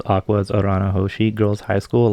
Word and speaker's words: Aqours: Trio lineup the name Aqua is a combination of aqua and ours while the spelling is at least when you pronounce it it is just Aqua muika koizumi member of